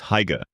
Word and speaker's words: hygge: The word is hygge. Many people pronounce it hygge.